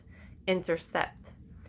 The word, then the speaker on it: intercept: Now, C-E, this is going to be a soft C. Sept. Intercept. Have you ever heard the word intercept or interception?